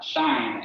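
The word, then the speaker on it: sinh: are related look at hyperbolic functions commonly pronounced uh shine and cosine hyperbolic um but these are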